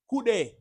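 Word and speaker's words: cu: Like in Jamaica when we say Kude, which means look there, right? Kude. So that is how you say the letter Q in Spanish. Q. Ku.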